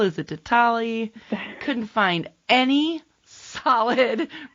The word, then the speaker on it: Ditale: Because I was like, is it Ditale? Is it Ditale? Couldn't find any solid pronunciation on the interwebs. So I have to ask where the name came from. So it's Ditale.